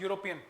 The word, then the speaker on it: European: एन यूरोपियन, देखो यूरोपियन की pronunciation है यूरोपियन, वाई पहले आता है, तो यहाँ पे गलती यहाँ पे है, यहाँ पे अ आएगा, यहाँ पे अ आएगा, अ यूरोपियन वॉकिंग।